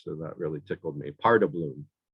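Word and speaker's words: paardenbloem: that really tickled me parda bloom that's how you uh pronounce that part as a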